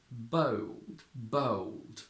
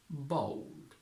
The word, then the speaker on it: bold: British diphthong to pronounce we don't say Bo bold which exists but is ridiculously Posh and very hard to produce we go American and say bold bold bold the problem is that